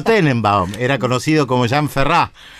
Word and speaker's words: Ferrat: era conocido como jean ferrat con un ate al final que no se pronuncia cantautor francés uno de